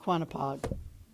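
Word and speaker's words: Quonnipaug: trees and the Old Stone House and Lake quonapod which is spelled q-u-o-n-e-p-a-u-g for some reason back then and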